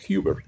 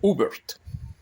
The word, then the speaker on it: Hubert: Mi nombre se pronuncia Hubert en inglés, o Hubert, ¿verdad?